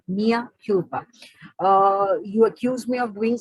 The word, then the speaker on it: mea culpa: Once again, it is written as culpa, C-U-L-P-A, but it is pronounced as culpa, mea culpa.